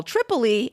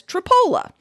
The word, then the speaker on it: Tripoli: for Iowans, or pronouncing what many English speakers would call Tripoli as Tripola.